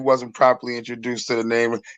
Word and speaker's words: Nam: If you wasn't properly introduced to the name, it's Nam. You know what I mean? I'm from Rhode Island. We pronounce everything wrong, bro.